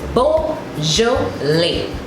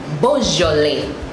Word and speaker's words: Beaujolais: But in French, they take away the I and S and say lait. So it is Beaujolais. Beaujolais.